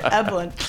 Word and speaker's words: Eblen: Eblen.